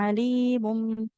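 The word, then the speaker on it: عليم: Mengubah bunyi nun sukun menjadi mim sukun. Alimum. Jadi dibacanya alimum bil mufsidi itu namanya iqlab.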